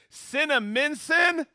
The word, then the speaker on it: Cinnaminson: Here in Cinnaminson, New Jersey.